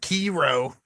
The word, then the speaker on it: Sekiro: It's pronounced Sekiro.